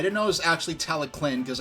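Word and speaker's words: Talyllyn: I didn't know it was actually Tallyclyn because I didn't, know how to read the Welsh language. And I still don't, but now I know how to pronounce, okay, the double L, it's like a C or a K sound, I think.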